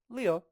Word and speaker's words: 六: 六 Leo, Leo. So for me, I think of leaves, leaves, right? Leo, leaves.